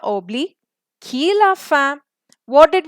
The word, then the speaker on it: Obélix: Now, in French, it's Obli, X is silent.